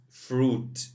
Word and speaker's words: fruit: meat fruit fruit and here we have i is silent fruit fruit cereal cereal olives